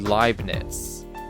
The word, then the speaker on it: Leibniz: I think it was like when you have EI and IE, like one is pronounced E, one is pronounced I. Stein. So if it ends with an I, then it's like when it's EI, you pronounce it I. When it's IE, you pronounce it E. So it would be Leibniz. I think.